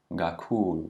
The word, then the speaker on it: kakhulu: Notice that when a K does not have an H after it, that it is a bit closer to a G sound. It's almost like a G. Kakhulu, kahle.